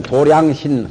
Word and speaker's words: 도량: 이제 도장신부 since이라도 하고 도량이라고 발음을 절에서는 도량 가합니다 다시 불색 진수인 도량